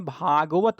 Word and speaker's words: भागवत: उसका उच्चारण होता है तो भागवत पूरा कहा जाता है भागवत भगवान तो ता जो है वो पूरा बोला जाता है तो ता बोरा बोला